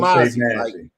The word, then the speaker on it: Mozzie: Yeah, my name is Mozzie. Like there's no. Ma. You didn't hear "mad" come out of my mouth. You heard "ma."